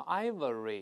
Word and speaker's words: ivory: 注意这个发音不要读成 ivory，大家注意到了吗？